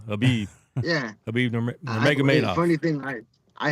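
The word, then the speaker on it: Khabib: saying Kabib Kabib. I hate when I hate when they pronounce the K too. Habib.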